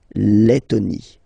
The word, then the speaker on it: Lettonie: So remember when you've got this E and then a double letter like that, T, okay, then you will have to open your E and it will become E, le, Lettonie.